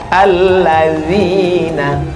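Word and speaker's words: الذين: D sama Z itu bacanya dza dza. Alladzina dalam bahasa Arab ada huruf dza.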